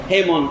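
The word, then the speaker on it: Haemon: সেই ঘটনাটা সংক্ষেপ হচ্ছে, এই রাজা ক্রেয়নের পুত্রের নাম হচ্ছে রক্ত, হেরমন বলে আর কি, হেমন উচ্চারণ করে।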